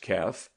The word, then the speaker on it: kef: Kef, pronounced Kef, Arabic slang to loaf happily, to invite one's soul.